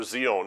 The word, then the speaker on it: Zion: Zeon for Zion Okay jealous over Zion over Zeon is the proper pronunciation to the my understanding